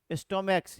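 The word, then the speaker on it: stomachs: यानी कि यदि किसी सिंगुलर कॉमन नाउन का लास्ट लेटर सी एच हो और उस सीएच का उच्चारण क्या हो? क हो तो उसमें एस जोड़कर उसका प्लुरल बनाते हैं।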